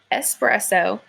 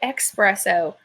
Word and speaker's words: espresso: we usually say it so you're supposed to say espresso but a lot of people say expresso there's an X in there that I don't know why we do that and again like of